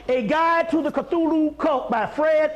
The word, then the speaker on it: Cthulhu: to the cthulhu cult cthulhu k-t-h-u-l-h-u c-t yeah i'm sorry that's they pronounce it k on something is c-t-h-u-l-h-u cthulhu by fred l